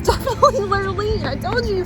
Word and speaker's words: Lurleen: It's definitely Lurleen. I told you pronounced it wrong.